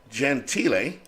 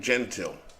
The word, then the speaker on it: Gentile: At first base is, I pronounce his name, Jim Gentile, which I believe is the Italian way of saying it, but I could be wrong. It could be Jim Gentile.